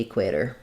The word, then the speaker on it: equator: also asked about in the word equator whether it's a flap te and it is um usually in words with t r t o r at the end um they follow that pattern where we flap those because that um they're between two vowels and they're followed by an unstressed syllable so we would have um e equ at the equator um yeah good questions